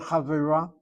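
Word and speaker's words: חברה: I write out the word as you see it. I add a kamatse. I then do my syllabication. I've got 3 syllables. This kamatse is 2 places removed from the accent, which is normally the last syllable of the word, and so it reduces to a hatapata. The word chavera is the pointing of that word.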